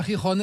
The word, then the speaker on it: Gijón: de la Plata, qui va de Séville à Gijón. C'est comme ça qu'on prononce.